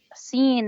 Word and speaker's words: س: Seen is not bold. Mhm. It's just light.